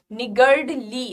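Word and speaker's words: niggardly: अच्छा, प्रोनाउंसिएशन पे ध्यान देंगे, इसे निगर्डली, again again are is silent here, ठीक है।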